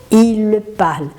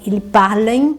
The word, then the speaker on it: parlent: Só que a gente não vai pronunciar esse ent. Então, a terceira pessoa vai ser il parle. Il parle. Tem alguns alunos na hora de ler falam assim, ils parlent, non, il parle, d'accord?